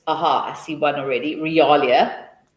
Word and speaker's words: realia: So if we for instance Aha I see one already realia or real rialia that's how you say it put it up.